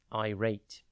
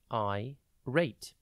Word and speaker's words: irate: time today's word is I rate it is pronounced I rate and spelled i r a t e think I and then rate IR rate means extremely